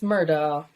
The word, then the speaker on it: Murdaugh: Last What's the Murdoch of Us? files? Murdaugh. I'm saying it wrong. Everybody, it's Murdaugh, not Murdoch. It's murder, like murder, Murdaugh. like as if murder.